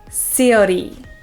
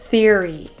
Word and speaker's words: theory: s and pronounce it sori instead of Theory so let's try it again stick your tongue in between your teeth just a little bit and allow air to flow over your tongue the also with this